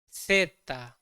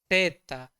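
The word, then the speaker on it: zeta: one Z or Z we say it as seta seta some part of the world they also say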